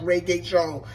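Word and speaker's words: Regé-Jean: His name is pronounced Reggae Jones.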